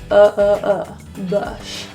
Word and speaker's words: bush: In the word bush, that U is pronounced as an upsilon. This is also that little duck face sound. So we're going to go neutral with our lips out, bush.